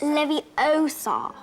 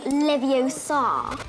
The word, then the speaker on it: Leviosa: You're saying it wrong. It's Leviosa, not Leviosa.